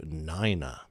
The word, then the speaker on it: niner: be fairly distinct however one should be spoken as if spelt w-u-n three is tree four becomes four five is five seven is seven and nine grows to niner whilst the world of